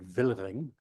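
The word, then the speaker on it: Wilhering: He was a cistersian monk and uh from the nearby monastery of we would say Vilhering. They pronounce it Ving uh one syllable I guess.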